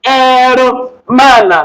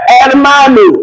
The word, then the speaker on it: hermano: I started with hermana, not hermana. You are wrong. It's the pronunciation started from here. Hermano, not herman.